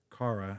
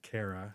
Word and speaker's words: Cara: Cara is the daughter of missionaries, and she was born in Glasgow, Scotland, which is why she pronounces her name Cara, not Kara, Okay.